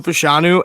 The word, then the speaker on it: Fashanu: my video today and Olu fanu that's how you say it Penn State yeah yes Olu fashanu and Marvin Harrison Jr